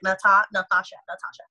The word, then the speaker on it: Nathasha: Remember, there's a silent H after the T, so like Nathasha.